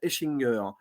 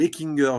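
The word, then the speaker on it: Hechinger: par Joseph Quinn et Fred Eschinger, ou Eckinger je crois qu'on prononce, mais bon, peu importe.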